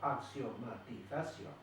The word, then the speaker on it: axiomatización: Eso si la separamos en sílabas, axiomatización. ¿Es una palabra aguda, grave o esdrújula? Es aguda. ¿Por qué es aguda? Porque se acentúa en la última sílaba.